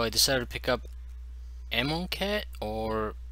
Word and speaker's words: Amonkhet: decided to pick up ammo cat or in my native tongue the kh is pronounced as a her so it'd be ammon hit but i'm not sure